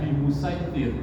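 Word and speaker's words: بمصيطر: itu SH musaiidtir itu dikasih tanda diganti Sin jadi bacanya bimusaitir walaupun eh kalimatnya itu bimus itu tertera huruf SH Apa makna ee yang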